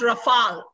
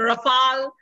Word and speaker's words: Rafale: And it's pronounced Rafal, okay? It's a Rafal.